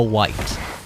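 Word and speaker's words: wight: Look, who decided that we were gonna name an enemy in this game a white? I understand that it's W-I-G-H-T, and that it's not the color white.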